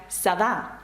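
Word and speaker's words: ça va: frс ну останній приклад така культова фраза як Сава це не те що ви подумали Сава французькою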